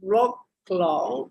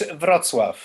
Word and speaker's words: Wrocław: So Thomas graduated in 1998 from the Academy of Fine Art in Wrocław. I for sure did not pronounce it well, Poland. That's how we pronounce in English, Wrocław.